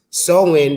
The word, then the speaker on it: Samhain: because Halloween's origins date back to the Celtic festivals of the Samians, pronounced Samhain, the Celts who lived 2,000 years ago, Mm.